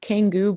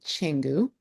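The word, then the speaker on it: Canggu: popular areas will be Changu, which is C A N GU, not Kangu, but Changenu, and you have Ubud.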